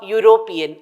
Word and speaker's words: European: university and also it's the same with a European though e is a wallel and now coming